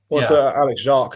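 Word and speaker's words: Alex Jacques: Alex Jacqu actually is how it's supposed to be pronounced.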